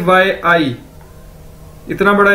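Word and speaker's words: 阿姨: से मिलकर बना है, लेकिन इसको प्रोनाउंस कैसे करना है, आई। ठीक है, ए वाई आई आई आई, जिस तरह इंग्लिश का वर्ड है आई।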